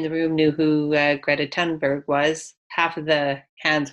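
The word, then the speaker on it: Thunberg: we've talked about Greta tunberg before now we know how to pronounce your name correctly it's not th its ton because she's Swedish and that's how they pronounce it so what is a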